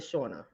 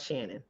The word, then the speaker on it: Shorner: for trying to say my name is Dr shorner not Shannon but thank you for